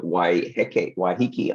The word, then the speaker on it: Waiheke: could spend weeks here I think but uh why hiki Island I've said that I've pronounced that correctly waiheke has a is a